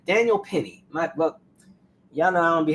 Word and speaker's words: Penny: Perry, I'm sorry, why do I keep saying Perry? Daniel Penny.